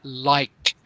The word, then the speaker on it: like: Must pronounce the last consonant. In this case, the k sound in like and the k sound in cake.